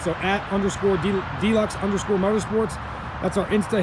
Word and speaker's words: Dlux: us on our instagram at deluxe it's spelled d-l-u-x underscore motorsports so at underscore d-locks underscore motorsports that's our